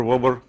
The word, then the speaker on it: Weber: People call it Weber, Weber, Wober. Whatever.